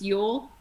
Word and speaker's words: Ewell: you said that jody my last name is yule naughty oh yule okay very good thank you yeah but it is spelt e-w-e-l-l yes okay it's like you like a female sheep yes yes yes yes